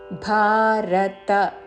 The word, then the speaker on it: భారత: భారత తతో భవతి భారత మహాప్రాణక్షం భవలో త హ రస్వము పొడిగించకూడదు భారత తతో భవతి భారత